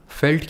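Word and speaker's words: Veld: If you do, then Pampas is Steppes, Prairie is Velt, which is pronounced as felt, by the way, it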